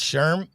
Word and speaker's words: Schirm: and we have how do you say your last name sherm yep you got it perfect sherman we got